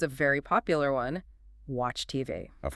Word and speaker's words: TV: In English with initials like that, we usually stress the last letter. So, it's not TV. It's TV.